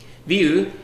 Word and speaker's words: VUE: strong display products ever view is named from french with the same pronunciation and the meaning of